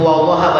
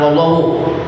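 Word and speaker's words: وَاللَّهَ: syariat jadi mencapai keinginan wallaha itu wallaha bacanya jangan wallahu tadi kataada lagi wallaha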